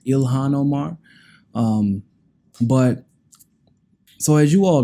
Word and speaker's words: Ilhan Omar: I've been pronouncing her name wrong this whole time, apparently. My bad. I don't like pronouncing people's names wrong, so I wanted to get that right. So her name is apparently pronounced Ilhan Omar.